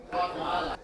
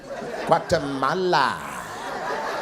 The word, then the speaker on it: Guatemala: Guatemala. You hold on to that M a little longer. Guatemala. I like that So you were born there. Here. What? What's up? Made in Guatemala, born in the US.